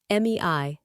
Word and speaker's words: mi: one llama's personal Memoir me wly spelling Mei actual pronunciation me means man or or human and Dread